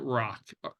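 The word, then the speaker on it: RROC: Center Ro y see they pronounce It Rock so uh that that's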